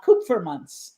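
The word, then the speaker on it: Kupfermunz: for that reason his last name is uh cook for months Andre coopermans k-u-p-f-e-r-m-u-n-z and we've not only worked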